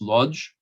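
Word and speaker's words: Łódź: professor mitchell's she is originally from uh woods or as jews pronounces lodge she is an accomplished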